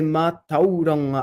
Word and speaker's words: mātauranga: divine knowledge, and that's actually meant to be like a long A here, and it means intelligence, education, wisdom, so something like that, right? He tangata I roto I te mātauranga atua, ahakoa e mahi ana ki te kitenga.